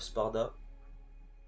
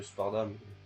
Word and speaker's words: Sparda: Donc on y va sans plus tarder avec le prologue en Son of Spard ou fils de Sparda. Moi je le prononce à l'anglaise.